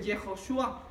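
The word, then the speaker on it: יהושע: dice ósea si ve pero se pronuncia diferente yehoshúa esa es la pronunciación ya con la puntuación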